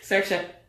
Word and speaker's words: Saoirse: How did you pronounce it? Saoirse.